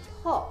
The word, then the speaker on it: Peau: e 呢个音啦，e，之后就加个 d 在前面，the the。第三个字就是 po，要识发 o 呢个音啦，o o o，再加个 p 在前面 po。第四个字咧同第三个字的音是一样，不过今次就加个 b 在前面，bo bo te， so it's clé de po bo te。第二個品牌就是 Chant Tu Kai，這個品牌的創辦人就是一位法國人，所以這個名字就是他的姓來的。第一個音是用 SH 發出來